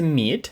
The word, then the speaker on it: meet: nс а буде Nice далі друге слово - це Meet зустріти зустрічати і тут важливо те що подвійна і робить Просто довгий м'який звук і Meet My name is